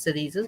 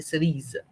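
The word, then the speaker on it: cerises: But we don't pronounce it as cereses. We just say cerise. S is not pronounced.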